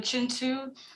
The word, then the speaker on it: Pihcintu: look up uh the chintu show us how it's spelled because it isn't spelled how it sounds it's p i h